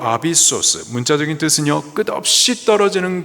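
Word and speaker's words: ἄβυσσος: 무저갱, 헬라식 발음으로 아비소스, 문자적인 뜻은요, 끝없이 떨어지는 곳, 깊은 구렁입니다.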